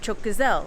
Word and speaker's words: çok güzel: asked him, I said, how do you say that's beautiful? And he was like, çok güzel, like that's beautiful.